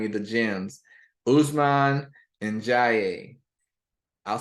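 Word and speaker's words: Ndiaye: do I find you the gems Usman and Jaye I'll spell that last night for you n-d-i-a-y-e Usman and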